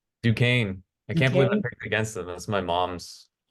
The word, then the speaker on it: Duquesne: Desquain, how do you say Descain? Duquesne.